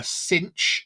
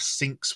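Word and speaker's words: Synch: I think he's great it's spelled cinch s y n c h but I imagine You' probably say it's syn because that's what he does he sinks with someone so yeah sink I'm G to go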